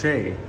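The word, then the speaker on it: chez: Miss Lob says Ches is pronounced Shay.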